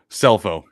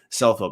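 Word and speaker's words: Scelfo: of slu's head coach it's Frank suffolo cell phone cell phone man uh congrats to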